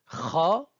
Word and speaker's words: خ: Donc, la septième lettre de l'alphabet kha, l'équivalent de la jota de l'espagnol, se prononce au niveau du fond de la bouche, du haut de la gorge, au niveau du palais mou. Elle a le même point d'articulation que le re du français.